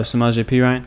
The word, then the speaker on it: Samaje Perine: Oh, Samaje Perine?